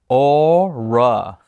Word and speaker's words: ORA: Joe Mariano encloses a set of our newest powered speakers, ORA, pronounced ORA.